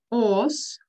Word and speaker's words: horse: Horse. Horse. Лошадь. Обрати внимание, на конце немая и. Пишем, но не произносим.